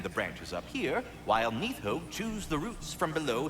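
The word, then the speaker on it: Níðhöggr: vital piece of the agency that's how you pronounce it I tend the branches up here while nitho chews the roots from below to prevent overgrown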